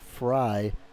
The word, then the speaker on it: Frey: red Maverick damn it Frey is pronounced like fry as in French fry Anthony fry huh stage